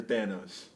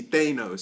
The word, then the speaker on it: Thanos: Kang all right after Thanos and it's pronounced Thanos by the way too many people I see Thanos Thanos everyone in the I